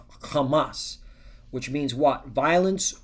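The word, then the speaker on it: חמס: So it's pronounced kamas.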